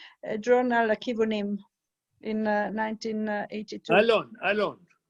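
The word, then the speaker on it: Yinon: Einon. Not Enon.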